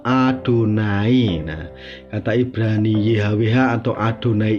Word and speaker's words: YHWH: ya Wena uniknya guys orang Ibrani itu tidak berani membaca yhwh itu dengan kata Yahweh karena mereka sangat menghormati nama Allah ternama yahwi ini sehingga kalau ada kata yhwh orang Yahudi itu membacanya dengan nama adonai kata Ibrani yhwh atau